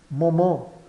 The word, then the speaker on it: moment: E esse T final é mudo, pois a palavra seguinte não começa por uma vogal.